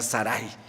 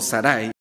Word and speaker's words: Saraí: años a su esposa la esposa se llama Saraí algunos dicen que es más correcto pronunciar Saray pero bueno como yo lo pronuncie en esta ocasión Usted sabe que se llama Sarai o Saray esta mujer cuando Abraham tiene